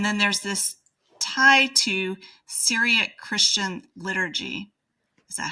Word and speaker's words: Syriac: Kerala, I believe is how it's pronounced, is kind of the center of that community. And then there's this tie to Syriac Christian liturgy.